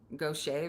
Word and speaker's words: Gauthier: Like, you know how Mary Gaucher is pronounced Gaucher, but it's spelled Gauthier?